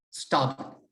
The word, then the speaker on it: starboard: hand side is starboard spell test STAR board but in the Marine World we pronounce it as stop we'll come to the